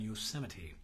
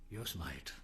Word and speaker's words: Yosemite: Happy days to all you folks up there in Yosemite, or as some people pronounce it, Yosemite.